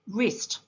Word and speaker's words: wrist: W is a silent letter in the word wrist.